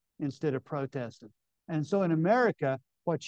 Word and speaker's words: Protestant: And among Protestants or Protestants, we don't really have too many Protestants anymore. Do you all pronounce that word Protestant or Protestant?